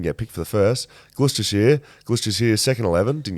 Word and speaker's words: Gloucestershire: what what I miss so it's gloucestershire okay perfect it's a good